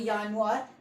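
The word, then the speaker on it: Januar: हैं नवार ठीक है स्पेलिंग आपको स्क्रीन पर दिख रहा होगा यानर ठीक है पर य मैं जे से पर पर यहां पर ये जे से लिखा है पर मैं इसे वाई से इसलिए प्रोनाउंस कर रहा हूं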